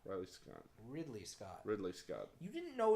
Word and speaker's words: Ridley Scott: crew should be proud of who you said ride Lee Scott I was gone Ridley Scott Ridley Scott you didn't know his name I'm mispronunciation okay well sorry Keaton let's move on